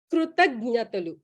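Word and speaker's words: కృతజ్ఞతలు: Krutagnyatalu. Krutagnya, that one actually. Krutagnya. But our Malaysian Telugus will cutely pronounce it as Krutanatalu, something like that. Something close to that.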